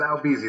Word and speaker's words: Albeezy: we're introducing albert today otherwise known as albizi uh so can you give us the uh the correct pronunciation of your police moniker it was out easy there's no r don't trust new because he's